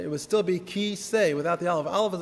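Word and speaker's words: כיסא: The Aleph is always, almost always a silent letter. For example, you're sitting right now on a kiseh. That's what it's called. A chair is called a kiseh.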